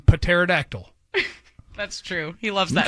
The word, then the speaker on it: pterodactyl: That, and I like to pronounce the P in pterodactyl.